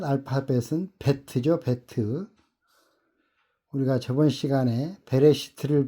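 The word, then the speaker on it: בֵּית: 첫 알파벳은 베트죠. 베트. 우리가 저번 시간에 베레시트를 배웠는데 그 베레시트의 맨 첫 글자 베트와 똑같은 글자입니다. 베트라고 읽습니다. 현재 사용하는 히브리어는이 그 같은 그런 글자입니다. 그 이렇게 생겼습니다. 이거를 히브리어로 베트라고 읽습니다.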